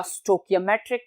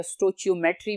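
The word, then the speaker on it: stoichiometry: इन स्टाइकोमेट्रिक problems या स्टोकियोमेट्रिक problems, या बाज लोग इसको स्टोकियोमेट्री भी बोलते हैं तो या स्टोचियोमेट्री भी बोलते हैं, तीनों प्रोनाउंसिएशंस ठीक हैं।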